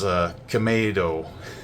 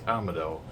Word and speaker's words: Kamado: watched another couple episodes, I said it was Kamado. I made a Kamado reference in the Tanjiro video. Well, guess what? It's Kamado. The correct way to pronounce it is Kamado.